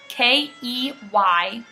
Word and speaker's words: Keynes: His last name is Keynes, K-E-Y-N-E-S. So it's spelled Keynes, but it's pronounced Keynes.